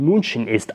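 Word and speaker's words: München: learn about here is moonshin which is pronounced in English as Munich but here we learned Munchen Islam so this is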